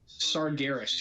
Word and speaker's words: Sargeras: Partially, he looks a lot like Saragars. Is that how you say his name? Saragars? Something like that? Sargeras, yes, Sargeras. That's right.